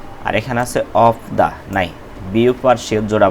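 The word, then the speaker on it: 없다: আর এখানে আছে অফ দা নাই। বিউপ আর শিউত জোড়া বাচ্চিম, এখানে বিউপের উচ্চারণটা হবে, শিউতের উচ্চারণ হবে না, তাহলে উচ্চারণ হবে অফ দা নাই।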